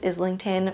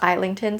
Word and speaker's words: Islington: I've been saying James Islington for forever and one of you actually corrected me saying that it's actually pronounced Eington.